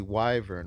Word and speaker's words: wyvern: according to Google Translate it's pronounced with a long y sound long would be wyvern right pretty sure that's